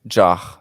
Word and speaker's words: Zar: And it will be very hard to get back home to what's the pronunciation of Tsar? It's Jar. Jar. Apparently, yeah, with a J. Okay. Say it with a J, so Jar. Yeah.